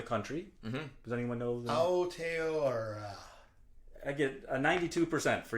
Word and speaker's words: Aotearoa: Well, with my own American accent and all due respect to Maori people, it's Aotearoa.